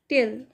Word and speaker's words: tail: टिल pronunciation ये Indian English pronunciation है और टेल ये ब्रिटिश प्रोनाउंसिएशन है। तो आप कौन सा प्रोनाउंसिएशन करना चाहते हैं आप देखकर आप कीजिए। मैंने आपको यहाँ पर दो प्रोनाउंसिएशन बताए हैं इसके। तो इंडियन प्रोनाउंसिएशन इंग्लिश का है टिल, और ब्रिटिश प्रोनाउंसिएशन है टेल।